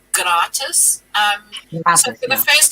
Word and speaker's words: gratis: much with german because the g here is pronounced with a hard sound so it's not like slatus it's gratis um so for the